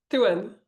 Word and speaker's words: Thouin: Thouin. Thouin.